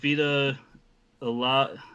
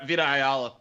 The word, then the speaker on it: Vita Ayala: So it's got, Vita Ayla. I can never pronounce her name. Vita Ayala.